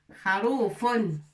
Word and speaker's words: خروف: Avec fatha pour prononcer Kha. Ra. Avec Waw pour prononcer Rou. Pour prononcer la lettre Ra. Kharou. Rou. Fun. Kharoufun.